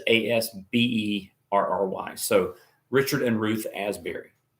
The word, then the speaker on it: Asberry: Not Asbury like Asbury Seminary, which is spelled Asbury. This is Asberry.